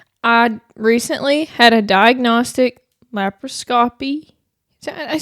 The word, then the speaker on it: laparoscopy: cuz you're like or is it lab laparoscopy? It's not. See, cuz that sounds dumb, too. It's scopy. That's how they continued to say it when I was there. It's scopy. Laparoscopy.